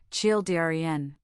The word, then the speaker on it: children: The word children can be tricky. It's a 2-syllable word, children.